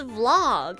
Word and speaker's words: vlog: genres is is it is it okay if I pronounced Vlog incorrectly I didn't know it's supposed to be it's Vlog in English so I said it as V I didn't know it was Vlog how am I supposed